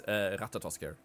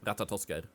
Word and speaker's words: Ratatoskr: It's Ratatoskr. Or in Swedish, Ratatoskr.